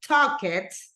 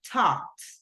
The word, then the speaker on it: talked: We don't say talk it, we say talked.